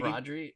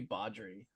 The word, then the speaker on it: Baudry: I think I was calling him Brodry, but it should be Baudry. Baudry. I thought it was Baudry and Brumel. I was saying it wrong.